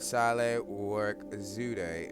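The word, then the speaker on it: Sahle-Work Zewde: has a woman president, Saleh Work Zude. And you don't pronounce the African names quite like you may pronounce an American name. So let's pull it down just a hair. And Saleh Work Zude, and let's read a little bit about her.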